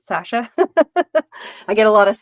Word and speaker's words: Sacha: Sacha is how my name's actually spelled, but I use the S so people understand how to say it. Sacha.